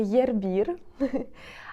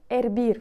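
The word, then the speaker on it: hervir: Air Bear R B Зверніть увагу на вимову це не єрбір а саме в інфінітиві буде ербір в початковій формі ербір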